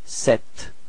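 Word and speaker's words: sept: Okay, so the P between E and T is not pronounced, so you get this set.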